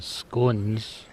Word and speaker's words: scone: well they're running about I've got some scones or scon whichever you like to pronounce it to bake this afternoon